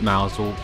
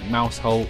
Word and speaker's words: Mousehole: the coast called mousel now they called it mousel but it's spelt mousehole and i don't know